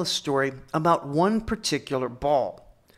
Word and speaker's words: Baal: story about one particular ball and if i was going to pronounce it right i would call him but that medial ayin which still exists in modern arabic is a really unpleasant sound and when i was